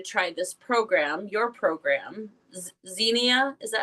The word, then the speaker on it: Zinnia: want you to try this program, your program, Zinnia."